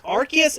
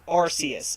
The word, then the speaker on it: Arceus: I mean, there's been two different pronunciations on the name. There's Arceus and Arceus. I've heard Arceus, but if that's wrong, let me know in the chat.